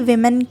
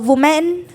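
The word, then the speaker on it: women: ये वुमेन नहीं, अगर यहाँ पे ए होता तो वो वुमेन होता, ये MEN है यानी कि इसका प्रोनाउंसिएशन होता है विमेन।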